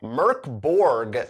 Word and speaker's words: Mörk Borg: free league publishing it's called Merc Borg I think I'm pronouncing it correctly there's an umlaut over the Oh this comes from Sweden